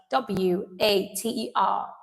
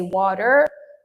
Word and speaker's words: water: For example, what is the correct pronunciation of this word w a t e r. Now for American speakers you would say water. The t becomes a flat d water. While British English you would say water.